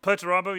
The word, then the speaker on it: Perturabo: Well, you mentioned before that we don't see any Puerto is that the correct way to say it? Perturabo, yeah.